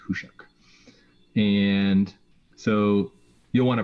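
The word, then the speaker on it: Khusyuk: So they're going to have cards like RDI, and they're going to have cards like Hushuk, which is like KHU something, but it's pronounced Hushuk.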